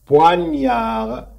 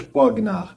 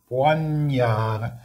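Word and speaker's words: poignard: بوانيار، بوانيار. هاد الجيمه كتقراش، ما كنقولوش بوغنار. بوانيار هاد الجيمه عين كنقراو ني ني.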